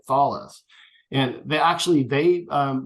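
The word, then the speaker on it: Thales: but they're partnered with I always mispronounce this French company um thus or thus yeah see I didn't say thals right thalis and they actually they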